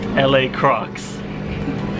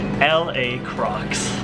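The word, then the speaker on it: LaCroix: it's pronounced how actually this John it's actually pronounced la crocks la crocks Johnson saying that the entire day and no one's corrected I'm just gonna open up a La Crosse here there we go that book just arrived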